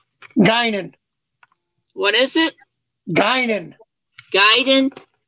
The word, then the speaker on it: Guinan: And this one is one I can't pronounce the name, so it's G-U-I-N-A-N. Guinan.